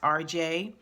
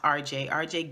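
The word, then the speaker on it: R. Jai: I think her name is pronounced RJ. It's capital R and then JAI is the second part of the first name. Okay, so I think her name is pronounced RJ Gillum.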